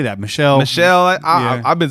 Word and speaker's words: Michel: Tony Michelle how do you say that Michelle Michelle I've been say Michelle yes when Michelle dearies